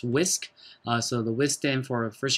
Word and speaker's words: WSQ: is called the whisk wsq pronounced whisk so the wisdom for